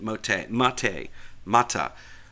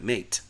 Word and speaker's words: MATE: head developer for the Auntu Mate project, he pronounces it mot. And but when you look at it, there's no accent over the E. There's no accent over the A. It looks like mate.